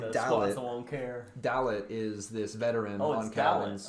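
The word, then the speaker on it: Dallet: Yeah, that's how they pronounced it. I assumed it was Delay or whatever, or Dale. Oh, okay, yeah. I wrote it down Dlait because that was it's spelled Dalet. Oh, okay. Like ballet or whatever.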